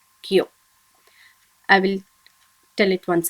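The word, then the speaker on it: きょ: And when ki joins with yo, small yo, should be pronounced as kyo.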